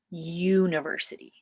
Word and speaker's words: university: university right nope because even though the letter is a u it's pronounced like a y university and why i know